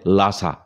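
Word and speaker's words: Lhasa: হটসে কথাটাই কানে লাগে, যেমন লাহাসা মানে লাসা।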